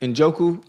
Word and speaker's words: Njoku: David Unjoku. How you say it? Injoku.